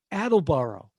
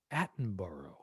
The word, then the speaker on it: Attenborough: name richard attenborough and attleboro first of all it's a horrible pronunciation it's richard attenborough that name again attenborough